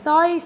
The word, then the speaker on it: สร้อย: วัน สงกรานต์ ให้ เด็ก สังเกต ไหม คะ ตัว สอ เสือ กับ ตัว เรือ ควบ กล้ำ กัน อีก แล้ว ถ้า มัน ควบ